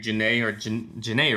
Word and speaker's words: Jhené: It's dope hearing Jhené, right? That's how it's said.